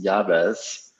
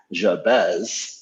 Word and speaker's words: Jabes: fortunate to have yavez who is from census and i think i just um said your name wrong even though we discussed it so it's jabez javez we aim to